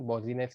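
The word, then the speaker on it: Boussinesq: सारे के सारे बॉजिनेस, इसको प्रोनाउंस कैसे भी करो, लेकिन मेरे हिसाब से सही प्रोनाउंसिएशन बॉजिनेस की है, बॉजिनेस थियरी के हिसाब से, ठीक है।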